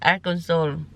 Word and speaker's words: Arkansas: So nandito na tayo ngayon sa Arkans pero ang ko dati yan is Arans pero ang correct pronunciation nila is Aran Soul.